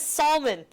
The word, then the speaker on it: salmon: guys can't pronunciate words right. There's No an one L. says salmon.